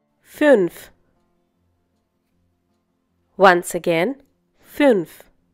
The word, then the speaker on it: fünf: Fünf. Once again, fünf. The two dots that you find on U are known as umlaut.